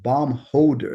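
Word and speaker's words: Baumholder: out this map and the way it's spelled is b auu m h o l d e r and I'm like oh bomb holder and he's like yeah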